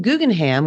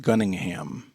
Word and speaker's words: Gunningham: You said Guggenheim, but it looks like it's pronounced Gunningham. I think I said Guggenheim, but yes, it's Gunningham.